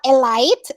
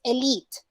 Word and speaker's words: elite: schedule was pronounced correctly elite it's not a light it's elite okay through was pronounced